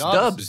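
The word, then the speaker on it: DVBBS: his name but like i just say it's like dv bbs in all caps it's dubs dude it's dogs dubs bro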